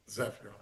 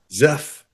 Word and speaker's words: Zephr: Zephr. Zeff, it's easy as it looks.